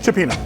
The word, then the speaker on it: Cioppino: Here's what Okay, is it Cioppino or Cioppino? Cioppino. Actually, you know what? It's tomato, tomato.